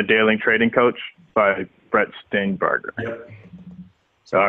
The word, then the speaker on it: Steenbarger: How do you pronounce it? Yep. Brett Steenbarger.